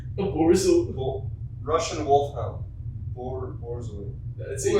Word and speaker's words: Borzoi: sideways How do you through a pronounce it? doorway. Borzoi? A Borzoi.